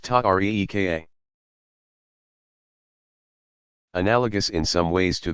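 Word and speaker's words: طريقة: These organizations came to be called tariqas, pronounced ta-reeka.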